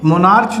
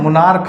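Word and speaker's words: monarch: ठीक है आगे देखिए मोनार्क यानी राजा तो यहां भी मोनार्च नहीं है मोनार्क है इसलिए यहां भी क्या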